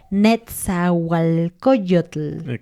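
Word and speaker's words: Nezahualcóyotl: En qué año más o menos nació el netzualcoyotl te lo pronuncié muy para que intentes decirlo esto obviamente es un hombre indígena y por lo tanto es dicil Pero puedes practicar decirlo y muchas personas dicen nalot no ajá No pronuncian la nco Pero bueno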